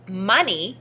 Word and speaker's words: money: o n e y in this word the letter o stands for our short u sound uh the letters e